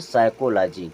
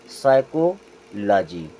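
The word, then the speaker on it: psychology: ओ जी वाई यहां पे एस होता है साइलेंट और इसे पढ़ते हैं साइकोलॉजी क्या पढ़ते हैं साइकोलॉजी अब यहां देखें यहां भी पी साइलेंट ये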